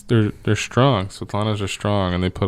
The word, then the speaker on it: Svetlana: This Slavlana. How do you pronounce it? Svetlana.